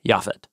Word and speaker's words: Japheth: So Noah and his wife have three sons, Shem, Ham, and Japhet. That's how you say them in Hebrew.